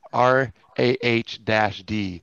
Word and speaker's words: Raw D: By the way, Mike, it's pronounced RAH-D.